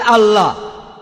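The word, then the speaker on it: الله: তারা বলে এলা, আমরা বলি আল্লাহ।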